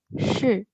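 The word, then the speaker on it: し: Jadi ini tulisannya SHI, tapi dibacanya she, she, kayak gitu.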